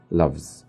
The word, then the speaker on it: loves: When it ends with a voiced sound, زي love, هنطقها za sound, and I'll say loves.